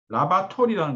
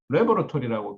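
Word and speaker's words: laboratory: 그리고 아까 발음 중에 라바토리라는 거나 라바토리 LAB 라바토나 그 중에 라바토리라는 게 처음에 새로운 게 나온 줄 알았는데 라바토리가 아니고 레버러토리라고 그 틀렸더라.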